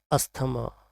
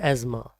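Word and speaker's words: asthma: इसको हम प्रोनाउंस करते हैं अक्सर अस्थमा, बट इसकी जो राइट प्रोनाउंसिएशन है वो है एज़मा। जिसे मतलब सांस लेने में जिन्हें प्रॉब्लम होती है उन लोग, उस बीमारी को कहा जाता है एज़मा। अस्थमा नहीं है, इसको कहते हैं एज़मा।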